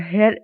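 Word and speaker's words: heir: has just come और हेर एंड रगो ठीक है तो हेयर एन रगो तो एच का जो साउंड है वो साइलेंट है ना ओ यू आर जो पीछे वाला साइलेंट है हम उसको पढ़ेंगे ना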